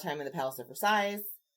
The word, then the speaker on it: Versailles: He spent a lot of time in the Palace of Versailles. Versailles? I said it right.